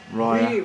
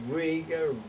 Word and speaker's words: Reiher: Yeah, we changed it back from 1980, and it sounds better, it sounds proper. Reiher. We used to get Riga, Rogga, or you No know, one could spell it. no one knew how to